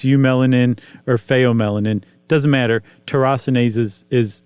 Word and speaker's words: tyrosinase: And the secret to it all is a little protein called tyrosinase. Right. How would you pronounce it? Just exactly like that, tyrosinase.